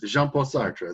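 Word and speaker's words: Jean-Paul Sartre: It's like Sartre or something. I forget. Yes, JeanPaul Sartre.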